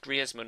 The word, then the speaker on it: Griezmann: shot of griesman apparently in the commentary in game they said that he's now pronounced griman or he would like the Spanish pronunciation of his name so I'll probably calling